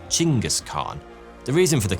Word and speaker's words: Chinggis: Genghis was the original anglicized version of Temujin's assumed name, but Chinggis is actually closer to the Mongolian pronunciation, so many modern scholars prefer that version.